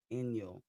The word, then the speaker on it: Inyo: Inyo. Inyo. That's how you pronounce it.